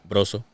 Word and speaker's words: Brozo: You got to roll the R. Brozo.